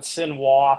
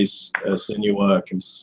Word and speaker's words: Senua: Someone called it Sinwa, so I got real confused. Well, they say he thought there was going to be big boobs in it. Senwa Kagura, that's what I think he was looking for. They say her name in the game, and I'm pretty sure I've heard them say Senua consistently.